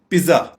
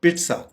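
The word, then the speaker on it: pizza: पिज्जा, आमतौर पे हमारे यहाँ इसको बोला जाता है पिज्जा या पिज्जा, जबकि इसकी करेक्ट प्रोनाउंसिएशन है पिट्सा, पिट्सा, पिट्सा।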